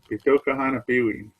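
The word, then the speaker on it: Pîhtokahanapiwiyin: So Poundmaker, Bitokahan, we say that word, right? Bitokahan, Bitokahan Apiwi. That's the pound maker. That's how you say it in Cree.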